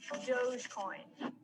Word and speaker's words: Dogecoin: to pronounce this thing doggy dog coin it's dogecoin the digital currency started as a joke between two software engineers in 2013.